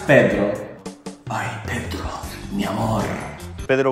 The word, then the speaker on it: Pedro: In Portuguese, it is quite similar to the Spanish name. However, the pronunciation is slightly different. I would say Pedro. Pedro.